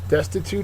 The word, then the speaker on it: destitute: Destitute is next. It's an adjective. First syllable is accented.